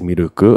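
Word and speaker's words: ミルク: um so for example milk is miruku and so when a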